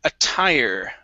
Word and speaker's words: attire: is uh the word attire right here stress at the very end attire attire attire okay